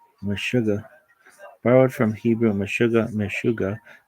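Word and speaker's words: meshuga: Mashuga I like this one. Mashuga borrowed from Hebrew. Mashuga. Mishuga means crazy in Yiddish. It can also be pronounced mashuga. Mashuga or even mashugi.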